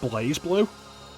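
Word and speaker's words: BlazBlue: AOS Soul so it's okay I know it's pronounced blaze blue but the fact they've spelled it Blast blue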